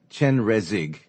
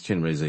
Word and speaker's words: Chenrezig: and the yeah Shinra it spelled Chen Rea Chenrezig Chenrezig but I was saying this chin razor you or something like that and then